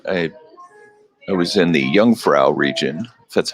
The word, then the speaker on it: Jungfrau: did I go I I was in the Jungfrau region that's how you pronounce it did some skiing there the beautiful